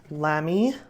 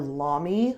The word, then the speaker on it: Lamy: that one i got the lamy or la me depending on how you say it it's a german brand amazonite crystals line and